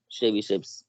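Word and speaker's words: Tchebycheff's: শেবিসেভস inequality, মানে বলছি শেবিসেভস inequality, কিন্তু এটার বানানে কিন্তু টি আছে, ঠিক আছে, টি এর উচ্চারণটা এখানে হয় না, যেমন সুনামি বানান যেরকম হয় সেরকমই শেবিসেভস।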